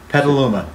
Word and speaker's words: Petaluma: do you say that where this is from petaluma petaluma petaluma california well there's two locations chicago but i can pronounce chicago petaluma if you want to say